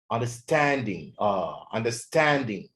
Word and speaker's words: understanding: guidance affection guidance understanding ما اقولش understanding، لا. the stress is on the second syllable on the third syllable.